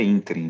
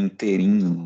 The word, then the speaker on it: ínterim: Pronúncia é ínterim, viu? Nem inteirinho. Muita gente que fala inteirinho, fica horrível. Ínterim.